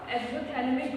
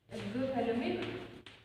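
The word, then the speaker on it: exophthalmic: Hyper secretion में क्या होगा, एक्सोथैलेमिक गोइटर, इसमें पी साइलेंट रहेगा, एक्सोथैलेमिक गोइटर होगा।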